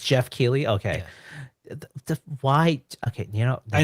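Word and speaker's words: Geoff Keighley: June 7th guys so I can never pronounce his name but I think it's like Jeff Jeff it's Jeff key okay why okay you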